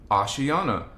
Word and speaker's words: Ashayana: and by the way I have people asking it's spelled a-s-h Ash a-s-h-a-y-a-n-a ashayana ashiana ashiana okay so you type ashiana voyagers one